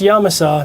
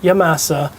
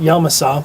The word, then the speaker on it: Yamasa: That's right, pronounced Yamasa, not Yamasa, pronounced Yamasa.